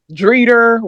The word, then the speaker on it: Drita: Have you noticed how all of them pronounce people names that's end with an A with an R? Dreeder, Ramona.